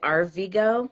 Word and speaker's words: Arvigo: You found out that you were diagnosed with celiac disease, and then you studied plant medicine at, is it Arvigo?